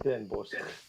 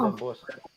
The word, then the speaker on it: Den Bosch: Die spreekt die G op het eind ook uit. niet Den Bosch. Jawel. Niet Jawel. Den Bosch. En Bosch. Ja, dit Den Bosch. Ja. Moet duidelijk zijn. Maar die spreek je uit.